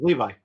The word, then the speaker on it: Levi: like the jeans Levi like the jeans Levi yeah okay it is Levi just checking because you